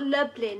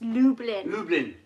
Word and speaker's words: Lublin: say it isn't it it's not lublin it's lublin blueberry right then chris was